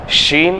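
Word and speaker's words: شين: Scene வேற, ஷீன் வேற, scene வேற, ஷீன் வேற. புரியுங்களா? இப்போ ஷீன், ஷீன் வந்து இங்கிலீஷில் சொல்கிறாந்தா SHA, ஷா படிக்கிறோம்ல, அதில் வர்றது தான் ஷீன்.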